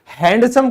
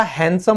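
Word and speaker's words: handsome: फिर हैंडसम कभी नहीं होता, हैंडसम होता है।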